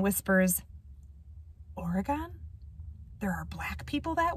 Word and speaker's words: Oregon: all the way from origon he says mispronouncing oregon the brown man whispers oregon there are black people